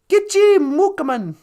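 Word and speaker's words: gichi-mookomaan: But, we call non-Indian people great knives, chimokaman. How do you say that? Gitchi mukaman. I just broke it down. Chimokes. Gitchi means great, and mukaman means knife.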